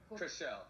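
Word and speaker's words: Chrishell: Chriselle.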